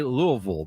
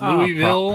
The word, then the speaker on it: Louisville: You almost like, you don't move your tongue. You almost mumble it.